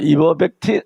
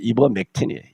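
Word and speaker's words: 이버멕틴: 오늘이 설교를 어떻게 해야 될지 모르겠습니다만 오늘 이버백틴 이버 백틴이 아니더라고. 자 내 발음을 잘못 읽었어. 이버 맥틴이에 이버 맥틴 맞잖아.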